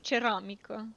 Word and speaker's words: ceramică: Because in Romanian you say ceramică.